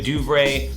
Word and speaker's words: DuVernay: Ava DuVernay, that's how you say her name.